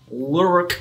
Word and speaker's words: LWRC: LWRC. Lurk. That's how you say it.